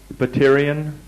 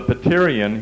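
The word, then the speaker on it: pterion: everything imaginable there Doug would you take that butterian yeah okay spell that uh p-t-e-r-i-o-n that's on your checklist now the paterian here has one unique quality on this particular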